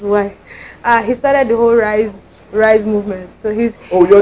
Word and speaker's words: Rise: Your name is Rise or Rishi? It's actually Rishi. It's pronounced Rishi.